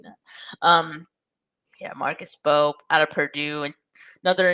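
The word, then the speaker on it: Mbow: Someone told me yesterday that the M in his last name is silent. So I hope they weren't just trolling me. But so it's Marcus Bow.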